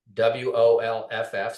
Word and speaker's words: Wolff: So probably the best way, you can contact me on LinkedIn, and Wolff. So I guess you can say my name is pronounced Wolf.